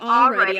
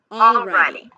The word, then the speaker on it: already: We have it in the word already. By the way, she pronounces it with the L already. But know that you can drop the L.